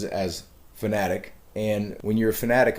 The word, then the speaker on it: Fanatec: the big one here it's fanatic not fanatic even my own brain i have to you know tell myself it's not fanatec because i read it as fanatec but the company itself